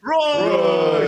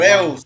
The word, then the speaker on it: Reus: Royce. You said it wrong, man. You might as well play it. Reus. It's Reus, right? Reus. Isn't it Reus?